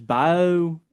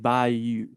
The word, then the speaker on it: Bayou: I've heard it pronounced two different ways. Bio and Bayou.